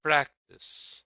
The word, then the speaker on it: practice: Happen is stressed on the first syllable. Yeah, how practice, practice, refer.